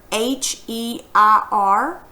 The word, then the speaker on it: heir: This one's easy to remember because you see the word H-E-I-R. You pronounce that heir.